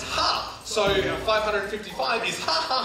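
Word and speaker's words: ห้า: In Thai, the number 5 is pronounced ha, so 555 is ha ha ha.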